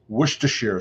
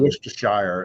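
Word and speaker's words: Worcestershire: you doing question to Mark how do you pronounce werer sauce that's how we pronounce it not not worshire it's not worshire or wers am I right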